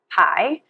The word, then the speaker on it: Kie: Kai and Kate um it's spelled k i e like Kai so Kai and Kate is our website www.